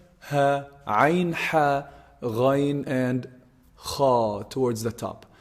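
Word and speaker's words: خ: So kha is actually the closest throat letter to the mouth. The closest throat letter to the mouth. Kha, kha. If you feel it, it's pronounced from the top part of the throat. Kha, kha. You can feel the vibration in this part.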